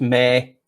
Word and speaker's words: me: It's pronounced, well, when you research it, it's pronounced, it says ME, but it's pronounced May, like MAY.